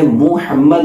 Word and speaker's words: محمد: ایم یو مناسب ہے، کیونکہ میم پر پیش ہے، محمد ہے، تو ایم یو سے جب ہم پڑھیں گے تو محمد پڑھیں گے، لیکن مراد ہماری محمد